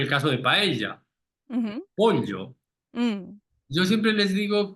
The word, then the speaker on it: pollo: pronunciación, es que piense que hay una L suave Ujú, delante de la Y, delante de la Y. ujú. Entonces, dice como pollo, pollo, ¿Y ¿sabes? cómo suena? Pollo, ¿Lo puedes decir seguido?